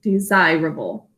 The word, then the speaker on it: desirable: We're also going to put a 2 on top of the S. It says a Z sound. Desirable.